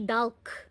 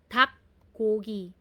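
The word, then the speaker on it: 닭고기: So dito kaya ang basa po nito ay hindi dulk. Hindi siya dulk. So based sa slides na pinakita niyo in this case agag LK ang binabasa po lang is K. So tak Gogi.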